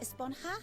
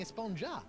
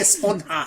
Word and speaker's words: Esponja: Actually, it's pronounced Esponja with an H sound. at the It end. is. Oh, That's how it's supposed to be. But we've all been saying Esponja.